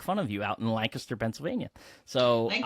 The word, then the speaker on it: Lancaster: It's like beaten into me to not say Lancaster because they make fun of you out in Lancaster, Pennsylvania.